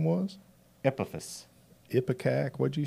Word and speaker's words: Epaphus: Epaphus.